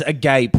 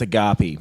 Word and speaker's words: Agape: He has agape, but it's pronounced agape.